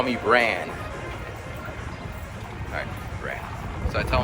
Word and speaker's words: Ran: it for you first, R-A-N. In Japanese you don't pronounce R's like R, but more like a L kind of sound. So it's Ran.